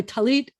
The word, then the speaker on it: tallit: morning by the way talit and is the hebrew word talis is the yiddish word if i yiddish pronunciation